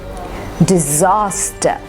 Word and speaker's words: disaster: Disaster, disaster. The first and the third are said very quickly.